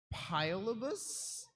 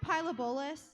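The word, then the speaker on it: Pilobolus: It's pronounced pyabolis.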